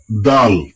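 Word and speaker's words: دال: খ পরেরটায় চলে আসি এটার নাম দাল দাল দাল দাল দাল হ্যা এটাকেও টেনে বলতে হবে তিন আলিফ অনেকে বলে দাল জাল র এরকম পড়লে হবে না।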